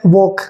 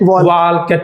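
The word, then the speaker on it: walk: एल आपका silent होगा ए और के के बीच में क्या होगा एल साइलेंट होगा जैसे यहां पे क्या लिखा है वॉक वॉक ये टॉक और वे चौक हां अब इसी को बहुत सारे बच्चे क्या बोल देते हैं वालक टॉल के चालक यस तो आपको ये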